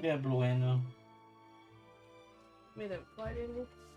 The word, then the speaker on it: Blueno: Yeah, Blueno.